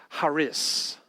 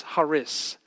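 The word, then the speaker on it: χάρις: is the word uh charis in fact you pronounce it not with the k it's the k is silent and so it's haris in fact i would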